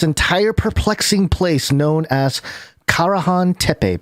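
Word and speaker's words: Karahan Tepe: peculiar chamber this entire perplexing place known as carahan tepe pronounced ka rahan tepe which is now emerging from the dusty plains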